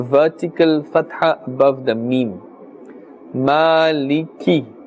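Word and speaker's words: مالك: Fatah above the mean Maliki the calf would its kisara must be pronounced clearly Maliki Omid beam and we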